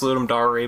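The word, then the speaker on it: Ludum Dare: for completely ignoring the thing from there it's pronounced ludum dary by the way guys is it are you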